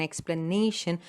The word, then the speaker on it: explanation: It comes on the syllable before TION. Okay, so attention, the stress is given on the second syllable. Attention, competition. See, the shen is not stressed. It is the syllable right before the last syllable.